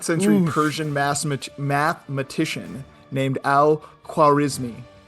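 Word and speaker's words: al-Khwarizmi: He Yeah, he's a a 9th century Persian ma mathematician named Al quarismi which is very close to algorithm and not even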